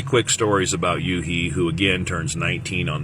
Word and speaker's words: Yuhi: Anyhow, Y-U-H-I, Yuhi, is how his name is pronounced, and I'll put the kanji down in my crotchal region, which will be your comments later.